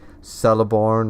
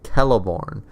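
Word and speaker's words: Celeborn: was always correcting people because if you read the appendices and stuff like that at the back of Return of the King things like sell a barn or our celebre more things like that are actually Kella born because seas are pronounced as K's in the elvish language or one of them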